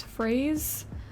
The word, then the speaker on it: Phrase: am drawing now is Phase it sounds like phase as in like strawberry and French but it's spelled like p h r a s e um so like a